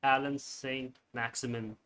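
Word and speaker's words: Allan Saint-Maximin: How do you pronounce his name? Alan Saint Maximin.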